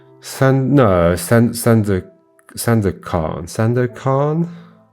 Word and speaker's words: Sandakan: San No, San San da San da kan. Sandakan? With emphasis on the last syllable, kan.